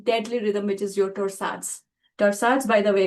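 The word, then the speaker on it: torsades de pointes: rhythm which is your torsads. Torsads by the way it's a French name. That's a funny name. Some people call it torsad dapua. That's how it should be pronounced because it's a French name.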